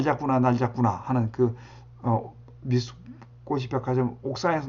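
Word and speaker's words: 三越: 미스코시. 3월 미스라고 읽고 월을 꽃이라고 읽거든요.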